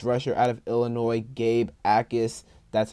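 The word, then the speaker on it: Jacas: Gabe Ais, that's how you pronounce his last name. The J is silent.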